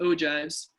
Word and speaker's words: ogives: The ogives will appear later, and it is pronounced ogives.